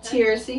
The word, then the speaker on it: Teracie: do you say your first name again seriously taracy i'm glad you didn't try to say